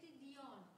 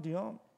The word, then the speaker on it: Dion: Dion. Let's see what you find. Dion. Dion. No. Correct. D. D. I India. Uh huh. Oscar November. Like Celine Dion.